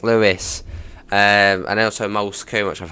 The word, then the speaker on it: Lewes: One being Lewes, which I've heard a lot of time called Lewes, and it's like, oh, Lewes, no, it's Lewes.